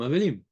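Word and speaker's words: אבלים: vadaille que nou avelim c'est comme ça se prononce nou avelim on est Menem la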